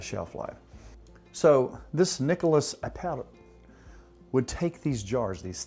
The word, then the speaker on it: Appert: A fellow by the name of Nicholas Appert, A-P-P-E-R-T, I'm trying to pronounce it like my buddy wow. Raul would, yeah.